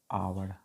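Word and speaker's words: hour: पहला एग्जाम्पल, उसको क्या पढ़ेंगे, आवर, एच का साउंड नहीं निकल, आ, क्या साउंड निकल रहा, आ, आवर, तो हमने क्या रूल के अकॉर्डिंग एन का यूज किया, ठीक है।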